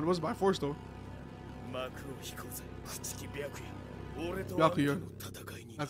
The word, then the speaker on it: Byakuya: Byakuya. That's how you pronounce it.